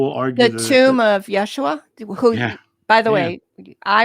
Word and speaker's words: Yeshua: because people because sometimes you'll hear me say jeshua um or yeah you know or Yeshua to me in my regression it sounded like